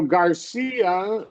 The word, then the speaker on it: Garcia: So Garcia, right, is this syllable. Kind of like Sophia and Maria, right? It would be that long E there, just like you did beautifully.